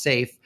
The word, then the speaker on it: SAIF: format or Saif pronounced safe we thought we'd be clever and name the company to rhyme with that and then try to